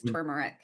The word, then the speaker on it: turmeric: I know that turmeric, it's got an R in there. I'm not sure if you're supposed to pronounce it or not. I think it is turmeric.